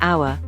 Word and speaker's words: hour: For instance, an apple, an interesting story, or an hour. Notice that the h in hour is silent.